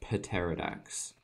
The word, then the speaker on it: pterodax: And we can move on from the pterodax, because that's how you pronounce it.